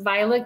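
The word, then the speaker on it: Vilate: a letter from and her name is actually pronounced Violet Kimble that's an old it's an old spelling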